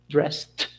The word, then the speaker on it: dressed: Therefore, the pronunciation of its past form would be something like a dressed, dress, dressed.